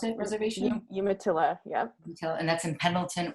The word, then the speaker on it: Umatilla: shadow institute of the art located right there umatilla is how you pronounce it reservation umatilla yeah and that's in pendleton oregon so she's